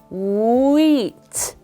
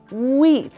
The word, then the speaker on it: wheat: very frightening wheat okay the wh at the beginning wheat wheat I hope you don't